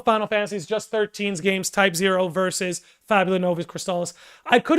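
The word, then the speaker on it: Type-0: I keep saying typo. I know it's type zero. I apologize for that. I apologize for that. I always pronounce my zeros as O's.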